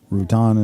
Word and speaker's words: Rutan: Rutan is how they pronounced it over the field.